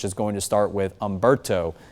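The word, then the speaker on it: Humberto: And then eventually we'll get into the second column of names, which is going to start with Umberto. The H is silent on that name.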